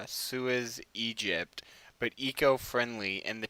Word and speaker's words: Suez: That's why kind of like the whole sewage that's why that kind of like piqued my. It's like, well, Sewage. Not sewage. I can't pronounce it correctly. Suez, Egypt.